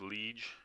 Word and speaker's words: Liege: It's pronounced Liege. Well, actually, I used to call it the Liege Maximo, and I heard Waza calling it the Liège, and I thought that sounds dumb, and I